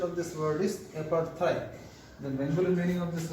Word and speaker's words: apartheid: The pronunciation of this word is apartheid.